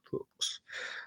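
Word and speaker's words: Fux: guy whose name is spelled F-U-X, and I would very much like to believe it's pronounced Fuchs, so that's how I'm going to say that.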